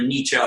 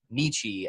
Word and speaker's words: Nietzsche: reference Nietzsche or Nietzsche I tend to prefer the Nietzsche pronunciations like Porsche I don't know but